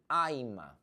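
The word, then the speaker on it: I'mma: The pronunciation is, listen to me, Aima.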